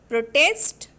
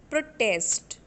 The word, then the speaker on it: protest: So in this way, whenever you are going to pronounce a noun, you have to put stress on the first syllable. Here D, in, or, pro, that is in the word protest, we are giving stress on pro. Okay, and if you pronounce the word protest as a verb, then you have to put stress on test.